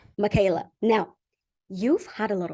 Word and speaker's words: Mikaela: I wanted to ask you I hope I'm pronouncing your name correctly Michaela right yeah yeah Michaela Michaela now you've had a lot of success can